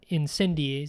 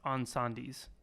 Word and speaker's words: Incendies: is a movie called Incendies. which I think, now that I'm hearing it out loud, I think it's pronounced Encendies. Encendies. Okay. And that's the Right. French way to say it, I guess.